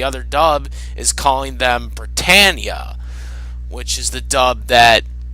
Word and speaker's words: Britannia: Bandai, reprinted by Funimation, they call Britannia Britannia. However, in this dub, they are calling them Britannia. They're pronouncing it Britannia rather than Britannia.